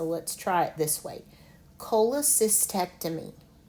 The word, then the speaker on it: cholecystectomy: So to pronounce this word, let's say it in the syllables slowly. Cholecist, ectomy. Cholecystectomy.